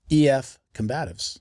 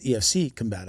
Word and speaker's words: EF Combatives: So I keep on saying it wrong too. Yes. EF Combatives. Yes. Everybody says EFC Combatives. Yeah, it's really EF Combatives.